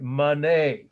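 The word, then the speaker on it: Manet: there it's my mother's side of my family monet is how you pronounce it m a n e t 1863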